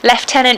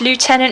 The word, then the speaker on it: lieutenant: cook down the pitch lieutenant if you're british lieutenant if you're american is that right yeah that's